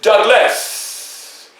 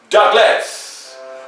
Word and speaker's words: Douglass: will have two s so when you pronounce my name you will pronounce it douglas you will hear the ringing of the s such as douglas well as time moved